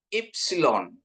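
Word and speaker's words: ύψιλον: Terus ada ipsilon, ipsilon, ipsilon, ya, ipsilon. Ini I, ya, Bapak Ibu, ya. Tapi kalau pengucapannya untuk ipsilon ini kita seperti mengucapkan O tapi keluar I.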